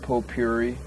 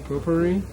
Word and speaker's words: potpourri: flowers and no smoking pop Pope Yuri how do you pronounce that potpourri potpourri yeah I'd like to smoke